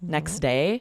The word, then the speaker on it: next day: end, like next day, the T at the end of next is totally dropped. We don't say it at all. It's too difficult for our tongue to make that t and then get to the duh. And so, there's elision there. It's just replaced. And so, for example, next day, um, what what did you do the next day? You don't hear that t at all, right?